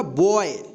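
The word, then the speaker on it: boy: तो इसका उच्चारण ओए होगा, ठीक है। बी ओ वाई क्या होगा, बॉय, बॉय, ठीक।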